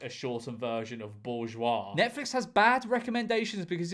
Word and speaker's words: bourgeois: The term bougie was created purely to disguise the fact that people couldn't spell the word bourgeois.